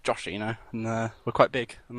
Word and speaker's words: Joshino: I'd just like to say it's pronounced Joshino, and we're quite big, and that's it, really.